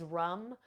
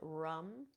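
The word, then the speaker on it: ram: the seed sound is Lum uh sorry is rum R A we pronounce it rum and then the heart is the color green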